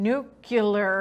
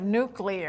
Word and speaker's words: nuclear: wrong like he does saying nucular right instead of nuclear I know the President of the United States say the word nuclear the way it's supposed to be yeah that one also